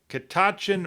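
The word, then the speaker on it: Catoctin: It's the Kitachin Mountain Orchard Peach Festival. I think I've got it right. Um, this I know the T in the back part of the word is silent, but it's a actually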